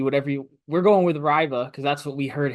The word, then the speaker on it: Reibe: Yukon as big man we looked up this pronunciation we heard him say it himself in a video Eric RBA it's not rebi ryy whatever you we're going with Riva because that's what we